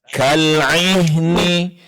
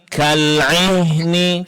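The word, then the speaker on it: كَالْعِهْنِ: Nah, kemudian terakhir pengucapan huruf ain ketika dia berbaris bawah pada kata kal'ihni. Kal'ihni. Coba Bu. Kal'ihni. Jadi kal'i, kal'ihni. Kal'ihni. Ya, jadi huruf ain bedakan dari huruf hamzah Ibu ya.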